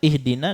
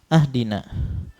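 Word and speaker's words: اهدنا: ada kesalahan tadi ya harusnya dibaca ihdina dibacanya ahdina maka dalam hal ini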